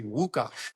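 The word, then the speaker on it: Łukasz: Actually, the way that you pronounce my first name is actually Wuka. The is a whole different character that doesn't exist in English, but I'm not having that conversation every time.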